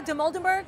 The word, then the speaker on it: Dimoldenberg: It's our chicken shop date girl, Amelia Dimoldenberg.